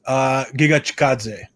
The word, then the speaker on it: Giga Chikadze: Giga Chikadze. That is actually how you pronounce it, folks.